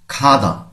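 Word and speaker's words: 가다: হবে আমাদের শব্দের শুরুতে আসলে খ পড়তে হবে এখানে পড়তে হবে খাদা অর্থাৎ যাওয়া আমরা অনেকেই গাধা বলি এভাবে যদি আমরা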